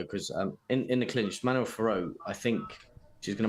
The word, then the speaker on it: Fiorot: I like how they say her name. Fior. It's not Fioro.